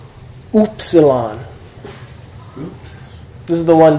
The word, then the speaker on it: upsilon: Upsilon. Uber. So yeah, cool, or as in German, Uber. Umlaut. Upsilon. Really, if you just pronounce it like two O's, ooh.